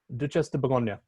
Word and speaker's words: Duchesse de Bourgogne: Actually, your pronunciation sounded, I don't know if that was real or not, but that sounded, can you say that for us again, please? Duchesse de Bourgogne. That's great. That's really good.